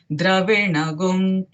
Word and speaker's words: द्रविणगुं: urdhva pavitro vajiniva swamrutamasmi dravinagum savarchasam sumedha amrutokshitah iti त्रिशङ्कुर्वेदानुवचनम् ॐ शान्ति शान्ति शान्तिः. So here, where the word comes Dravida, Dravina, after that the pronunciation goes like Dravina Gum.